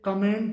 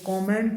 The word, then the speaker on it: comment: ऐसे ही अगला वर्ड है COMMENT, इसे कमेंट बोलते हैं, जबकि इसका सही जो प्रोनाउंसिएशन होता है वो कमेंट होता है, कमेंट।